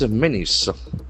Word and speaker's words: menace: In narcotics, menace. M E N A C E. Here the letter A will act as E sound.